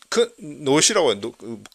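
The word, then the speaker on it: Knots: 노드 차원에서 방어를 하자 이런 것도 있고, 이제 그런 맥락에서 이제 노시라고 크가 묵음이니까 노시라고 하는 어떤 그 인디비주얼 이제 노드 솔루션이 이제 현재 퍼지고 있습니다.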